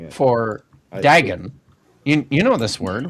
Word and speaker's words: Dagon: Dagon.